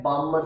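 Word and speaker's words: Balmer: इधर L silent है, बामर series. बालम्बर नहीं पढ़ना, ठीक है, पढ़ते टाइम बामर कहना, लेकिन ये है बामर, बालमर, यानी कि एल साइलेंट है, बामर पढ़ेंगे।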